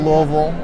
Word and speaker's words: Louisville: um went to Universal Louisville for notice how I have to eat marbles when I say that that's the proper way to say it it's Kentucky Derby weekend